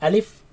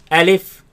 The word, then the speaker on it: ألف: Alif, ألف Alif, ألف Alif. ألف. Now this letter you are to pronounce it fast. Do not say Alif and do not say Alif.